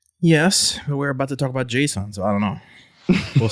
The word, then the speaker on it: JSON: Do you say JSON or do you pronounce it some other way? So I just say JSON, and I think if I had to explain